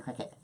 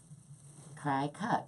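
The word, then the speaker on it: Cricut: I always thought it was the cry cut, but I hear people saying cricket. Cry cut, because you're cutting.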